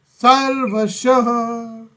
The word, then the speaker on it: सर्वशः: सर्वशः। हाँ, विसर्ग है तो उसको कहीं पर भी चोट आनी है। सर्वशः के बाद में ह विसर्ग का उच्चारण।